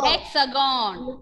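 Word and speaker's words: Hexagone: Ma'am, for the hexagon, the last N is silent or not? L is not silent. Okay, ma'am. Because after that N there is E. So we can pronounce that N.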